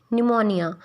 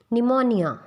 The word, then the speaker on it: pneumonia: When there is S and N after P, as in psychology, pneumonia, जब भी P के बाद S और N आता है तो P साइलेंट हो जाता है।